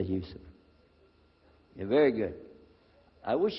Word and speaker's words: Yusuf: Can you say Yusuf? Let me say Yusuf.